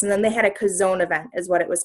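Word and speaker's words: Chazown: pastor craig rochelle and cos own is actually and it's spelled CH AZ o WN and it's so funny because they're like it's not chose own and they were making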